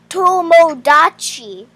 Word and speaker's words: Tomodachi: Tomodachi Life? Yeah, it's hard to pronounce. It sounds like Tashinima. It's Tomodachi.